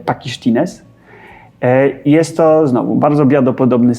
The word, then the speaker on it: Pakištynės: Wybaczcie, jeśli Litwini to słuchają, to niech wybaczą mi kaleczenie wymowy, ale wydaje mi się, że wymawia się to pakisztines.